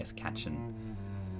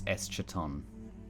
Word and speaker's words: Eschaton: I don't know why I say Escatchen. My brain switches the A and the CH, but it's Eschaton. Eschaton.